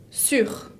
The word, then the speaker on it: sur: Sur. Et sous significa debajo. Sur et sous. Attention à la prononciation, parce qu'ils sont très similaires. Sur, de arriba, el que está encima, tengo que escuchar la R final.